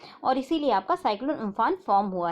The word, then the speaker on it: Amphan: उम्फान को हम उम्फुन करके जो है प्रोनाउंस करते हैं।